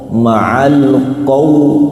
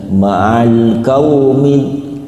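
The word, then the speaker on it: قوم: Ketap qof juga gitu bacanya. Jangan maal kaum kau. Kalau kau berarti huruf apa? Kaf. Maalqo. Ma'al qou. Q. Ini masih juga masih banyak sekali yang baca maal kaumid kaumid tapi qo maalumidimin huruf do lurus lidahnya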